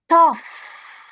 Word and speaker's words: tough: So, we have gh as in tough. Tough, right?